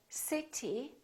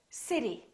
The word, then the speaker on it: city: better better look again we don't say city we say city city that's a big city